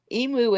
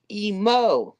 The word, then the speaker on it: emo: Emu is a bird. Emo is the proper pronunciation.